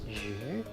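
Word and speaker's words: 鱼: Fish has its Chinese pronunciation as yu, and the homonym is yu, which means surplus and fortune.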